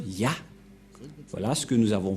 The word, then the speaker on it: Yah: C'est clair, d'après cette explication, et personne ne peut contester que c'est bien Ya, la prononciation.